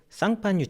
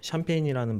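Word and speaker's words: Champagne: 김엽 소믈리에님 말씀하신 것처럼 프랑스의 쌍파뉴 지역에서 만들어진 스파클링 와인만을 샴페인이라고 할 수 있고요. 샴페인이라는 말 자체가 쌍파뉴의 영어식 발음입니다.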